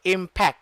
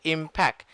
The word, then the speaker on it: impact: earlier i heard you say impec that's what you said impact there should be c and a t the sound of c is k the sound of t is ta impact that's what you did